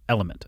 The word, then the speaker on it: LMNT: brought to you by element which is spelled lmnt but it's pronounced element i actually hear people